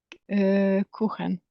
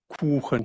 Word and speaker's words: Kuchen: Kuchen.